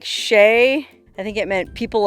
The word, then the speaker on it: Chelly: it's called that because the native peoples who lived here had a word that sounded like Shay I think it meant